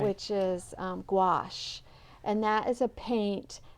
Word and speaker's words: gouache: Guache, I think. Okay. There might even be an O in there somewhere. Oh, gouache. But it's gouache.